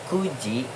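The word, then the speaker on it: 九時: Itu kan Q, tapi untuk di jam dia dibacanya ku. Jadi, kuji untuk menit 15-nya jadi jug go fung.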